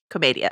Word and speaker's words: Commedia: Commedia is how you pronounce it.